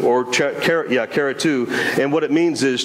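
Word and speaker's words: χαριτόω: now but this this the pertinent the correct pronunciation is Cara to or cara cara to and what it means is chased with grace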